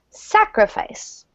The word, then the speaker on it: sacrifice: next one is again stress on the first syllable sacrifice sacrifice sacrifice sacrifice sacrifice